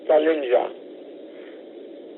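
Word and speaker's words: Tallinja: November Juliet Alpha in English it is probably pronounce salinga but in Maltese the English J has a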